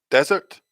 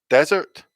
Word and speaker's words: desert: here oh i'm sorry that's the wrong one desert dessert desert dessert desert dessert okay so an